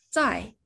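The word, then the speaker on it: 在: 해 클 태 라는 한자 입니다 이번에는 중국어 발음으로 읽어 볼게요 사랑하다 라는 봉사의 의미 ii 어디 어디에 있다 짜이 그래서 뒤에 장소와 붙어서 싸 의한 고어 라고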